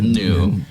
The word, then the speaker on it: gnu: Wars and not the new it's new right the g is silent I would imagine so